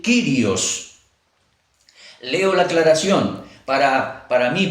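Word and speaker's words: κύριος: Algunos dicen que se debería pronunciar Curios, pero la mayoría dice el Kyrios.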